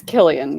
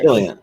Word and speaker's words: Cillian: I believe it's Killian because he's Irish. Killian. It's Killian. It's spelled with a C though.